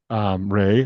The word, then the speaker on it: RAI: Yeah, I would say that's definitely top of mind for Refugee Artisan Initiative, which it's funny because your name is Ray. They pronounce their acronym Ray as well.